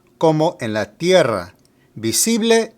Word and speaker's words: tierra: Tierra also emphasizes the E, but you need to trill the R. So we have tierra.